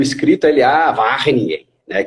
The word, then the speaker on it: Wageningen: E aí fui falando, aí eu mostrei para ele o escrito, ele, Wageningen, né? Que eles têm ele tem uma pronúncia forte no R, né? Wageningen, E aí eu falei, isso mesmo.